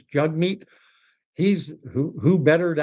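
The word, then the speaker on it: Jagmeet: But I would pronounce his name Jugmeat, not Jagmeat. His name is written Jag. J A G M T. But even on his own Twitter profile, it said Jagmeat uh pronounced Jugmeat. Jug rhymes with hug.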